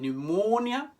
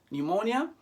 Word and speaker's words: pneumonia: like in english whereas in english we forget about the p and focus on the end like in pneumonia pneumonia in french you say